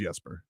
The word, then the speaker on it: Jesper: well it's okay I didn't know how to pronounce boquest first name yesterday but by the way it's it is yesper I know it is it's the we call